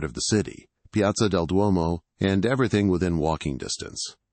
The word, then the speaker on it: Duomo: It's Duomo, not Duomo.